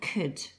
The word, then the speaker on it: could: So let's start with could. K, and that silent L, and then we can hear a D sound at the end.